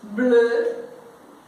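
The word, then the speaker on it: bleu: Agora o o pros lábios e o e pra língua. Tente falar e agora faça a boca de o que é só você lembrar assim que sai o som. Blue, que é azul, é igual no inglês.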